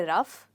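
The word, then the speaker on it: rough: तरह साउंड कर रहा है तो देखिए इनकी स्पेलिंग में कितना सिमिलरिटी है इसको हम कहेंगे रफ तो क्या हम इसको कहेंगे कफ मैंने बहुत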